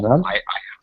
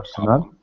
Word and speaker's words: personnel: Personnel. I have a personal problem. Personal. Yeah, personnel. So this is personnel. Very strong accent or stress on this part.